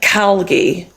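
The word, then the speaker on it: Calgie: The next one is Christian Calgi. The surname is spelt C-A-L-G-I-E.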